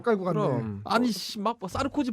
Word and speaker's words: 사르코지: 그 와이프도 그렇고 알겠어 너는 코지 하지 마 자꾸 쌀 거 같은 느낌이 들어 너는 싸르 고지라고 발음하지 마 알 습니다 자 그러면